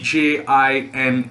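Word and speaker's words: djinn: upset now there's another word over there d j i n n it is pronounced as jin and ajin is a spirit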